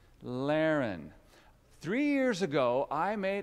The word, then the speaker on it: Larren: children my name is Lehren is anybody it rhymes with Darrin does anybody named Aaron here Lehren three years ago I